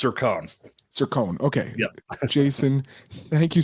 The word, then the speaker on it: Cercone: Cercone.